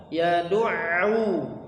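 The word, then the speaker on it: يدعو: Nah, huruf ain ketika dia ada tasydid ya, maka cara membacanya adalah dia suaranya tuh seperti hilang kemudian muncul lagi. Yad'u, gitu. Suaranya mengecil, hilang, hampir hilang tapi enggak hilang ya.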